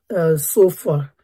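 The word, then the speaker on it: Zophar: spoke last was um um it was a sof far z o p h a r because when I pronounce it my my auto caption is not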